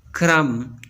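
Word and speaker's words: crumb: Silent B. B is not pronounced when following M at the end of a word. जब B से पहले M आता है तो बी को प्रोनाउंस नहीं किया जाएगा। क्लाइम, क्रम, डम, कम, बी प्रोनाउंस नहीं किया जाता।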